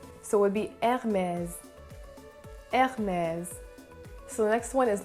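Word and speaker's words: Hermès: than not it's pronounced hermes once again you don't really hear the h in this word or in this name i should say and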